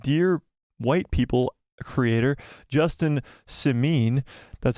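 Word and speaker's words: Simien: vanity reported that dear white people Creator Justin sameen that's how you say it I had to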